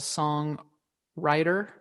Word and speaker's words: SongWriter: for a podcast called song writer and I I say it like that because the W is uppercase where they pair um